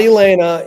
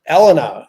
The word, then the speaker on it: Elena: It's not Elena, it's Elena, as I understand.